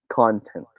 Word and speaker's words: content: should be pronounced as content all right content union time on pronunciation the stress is in the first syllable okay now right it